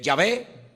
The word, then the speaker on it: Yahvé: Y entonces se puede con esas vocales añadidas al nombre se puede pronunciar como eh Yahvé, se puede pronunciar como Jehová o se puede pronunciar de muchas formas.